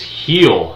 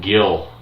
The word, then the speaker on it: Gil: It's Heel is his last name. I kept calling him Gil, so it's heel. The G is pronounced as an H.